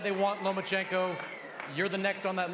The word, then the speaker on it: Lomachenko: You are now the mandatory challenger for Vasily Lomachenko's 135-pound title. Do you believe at 20 years old, you're ready for that type of challenge? I think you said his name wrong. It's Lomachenko, because he doesn't want to fight me.